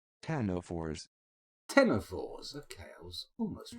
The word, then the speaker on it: ctenophores: And, Ctenophores. Ctenophores. Ctenophores. Okay, I was almost right. Put a bit too much emphasis on the "k."